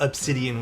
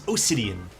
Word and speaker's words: Osidian: And no, it's not Obsidian with a B, it's Osidian.